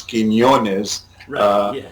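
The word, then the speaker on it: Quiñones: me but it is it's john quinones i always make a big effort though to pronounce quinones and his way it should be um and so now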